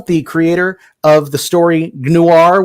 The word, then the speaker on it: Gnoir: With me today is Angela Boyle, the creator of the story Gnoir with a silent G. I'm still going to try to pronounce the G every single time I say it.